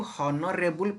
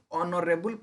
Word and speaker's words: honourable: मु कहबी HONOURABLE principal मु एटा को हॉनरेबल प्रिंसिपल कहबी कि ऑनरेबल प्रिंसिपल कहबी तो मेनली जेते बेले आमे ई वर्ड को प्रोनाउंस करूछु हमर प्रोनाउंसिएशन कोन आसुची हॉनरेबल नहीं हमर प्रोनाउंसिएशन आसुची ऑनरेबल principal respected teachers ऑनरेबल principal